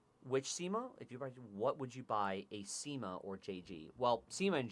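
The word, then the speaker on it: CYMA: So I pronounce them SIMA. Well, you're So- wrong. So I do SIMA It's wrong. AK.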